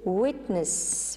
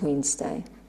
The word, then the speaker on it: Wednesday: comma and it will be witness Wednesday I'm just saying it as I'm going to spell it but it's Wednesday okay and then it's